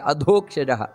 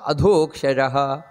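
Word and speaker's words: ಅಧೋಕ್ಷಜಃ: ಹೇಳಬೇಕಾದದ್ದು ನಂತರ ವ್ಯಾಪ್ತೋ ವಾಯುರದೋಕ್ಷಜಹ ನೋಡಿ ಅದೋಕ್ಷಜಹ ದ ಅನ್ನುವುದು ಮಹಾಪ್ರಾಣ ಆ ಅದೋಕ್ಷಜಹ ಆ ರೀತಿ ಉಚ್ಚಾರಣೆಯನ್ನು ಮಾಡಬೇಕಾದದ್ದು ಯಾಕಂದ್ರೆ ಸಂಸ್ಕೃತದಲ್ಲಿ ಅಲ್ಪಪ್ರಾಣ ಮಹಾಪ್ರಾಣ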